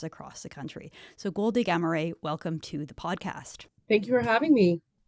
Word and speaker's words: Ghamari: So Goldie Ghamari, welcome to the podcast. Thank you for having me. And you corrected me on the pronunciation of your last name. I thought it was Ghamari, but it's Ghamari, so my apologies for that.